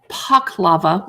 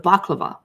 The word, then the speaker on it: paklava: look that up Armenian paklava with pomegranate service syrup that's interesting that they call it Pak lava instead of baklava Regional pronunciation differences a lindser tart with